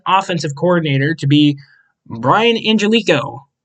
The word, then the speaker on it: Angelichio: coordinator to be Brian Angelico. Angelichio, that's how you say his name.